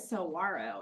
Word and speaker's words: saguaro: Giant saguaro, and it tells us how to pronounce that, so that helps. Even though it looks like should be a G sound, in Spanish, that's like a W sound.